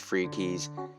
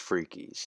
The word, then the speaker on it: Fricky's: Found a restaurant called Fricky's, but it's actually, we did ask the lady, it is pronounced Freakies. You can't tell me otherwise, it's pronounced Freakies.